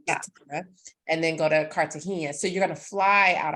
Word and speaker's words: Cartagena: will be from Cartagena I can't say it like you because I even I'm like I'm married to a Puerto Rican but even we both say it differently and I'm like what I think it's Cartagena so the mindful goddess